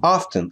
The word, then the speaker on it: often: Мы не смотрим телевизор очень very often.